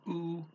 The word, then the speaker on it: o: But you put them together, o que means what. Now, the O, you could pronounce it O, but usually people in Brazil pronounce it oo, and any trailing O, they'll pronounce oo, and any trailing E, they'll pronounce E.